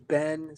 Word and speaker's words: Beinn: So, I did that and I was like, "Okay, so it's sort of Bane, but but it says it's Ben."